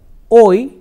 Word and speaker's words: hoy: temporal expressions here, like hoy is today. You remember that in the Spanish alphabet, H is always silent. H is never pronounced. So, when we say H-O-Y, it is hoy. H remains silent.